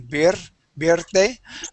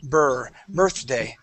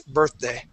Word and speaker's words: birthday: word birthday okay here you tend to roll your arms a little bit saying bir birday okay so what we want to pronounce is an R sound saying bur birthday try that please birthday birthday there you go